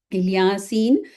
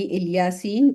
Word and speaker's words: الیاسین: الیاس پر سلام ہو۔ الیاسین الیاس علیہ السلام ہی کا ایک تلفظ ہے، یعنی الیاسین اور الیاس ایک ہی نام ہے، ان کا ڈفرینٹ اس کا تلفظ ہے۔ جیسے طور سینا کو